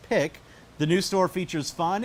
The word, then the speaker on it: pyq: opened its newest store entitled pyq but that's pronounced pick the new store features